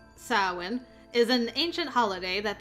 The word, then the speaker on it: Samhain: about this let's see samhain usually pronounced as sarwin is an ancient holiday